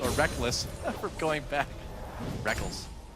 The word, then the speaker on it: Rekkles: Technically, it is written Rekkles. Yeah. It is. You spell it phonetically. All the way back in his first major tournament, IPL 5, the Rekkles and Reckless debate was in full swing. I still want to call him Rekkles, but I've just gotten so used to calling him Reckless because he says so.